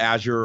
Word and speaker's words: Azure: You know, like Microsoft, they call it Azure or Azure depending on who's pronouncing it.